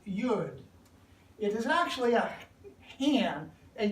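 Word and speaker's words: יוד: pictograph, and it looks like this, and it's pronounced Yud.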